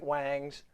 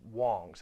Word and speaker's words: Wong's: a company called Wong's I know it looks like wangs but it's pronounced Wong's as I understand it